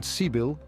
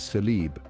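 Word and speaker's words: sabil: in some Eastern countries the word sibil path is sometimes mispronounced colloquially as salib cross but the initiation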